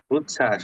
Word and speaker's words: উচ্ছ্বাস: করে দেখো উচ্ছস উচ্ছ্বাস হ্যা রস চ এ ছ এর সাথে একটা ব ফলা আছে ব ফলা যখন যুক্ত বর্ণের সাথে থাকে তখন ওটা সাইলেন্ট থাকে আমরা জেনেছি উচ্ছ্বাস জলযোগ উচ্ছ্বাস এরকম পারবা